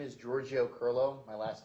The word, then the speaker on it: Kirylo: seated to do so my name is giorgio curlo my last name is spelled k-i-r-y-l-o if you could please give us